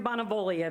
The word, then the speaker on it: Bonaviglia: it looks like bonaviglia maybe is that correct sorry i spent my life spelling my last name bonavolia the g is silent um wow wow i'm